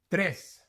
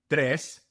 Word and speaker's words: tres: You must roll your R's for tres and cuatro.